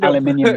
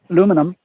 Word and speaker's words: aluminium: aluminum I don't have I don't have any problem with the with the two pronunciations because that's aluminum was the original the original name that was put forward for it when it was discovered got changed to aluminium to fit in with all the other eum